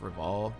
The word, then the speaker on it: Rival: not starwolf reval yeah his name is actually just rival pronounced reval it's really creative you're